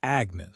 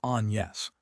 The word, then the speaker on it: Agnès: "Lizzie, this is Agnes," Shari says, only she pronounces it the French way, which is Agnès.